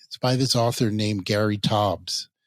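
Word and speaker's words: Taubes: do about it by this author named Gary tobs it's spelled t Au ubees he's a scientific writer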